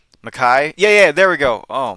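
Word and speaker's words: Mekhi: You have I know Becton, but like I can never pronounce that name right. Mackay.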